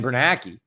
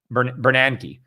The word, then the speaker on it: Bernanke: i met uh um bernanke i always pronounced that guy's name wrong somebody was you know kind of call me out yeah it's not it's bernanke right not bernanke ben bernanke some way i